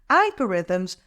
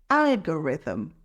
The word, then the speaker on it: algorithm: daily basis it's pronounced algorithm let's break it down Alm the stress is on the first syllable Al let's practice together algorithm algorithm moving on to